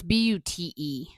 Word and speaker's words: Bute: So Is it spelled like Butte, Montana? No, it's Bute.